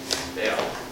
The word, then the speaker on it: Baal: Baal.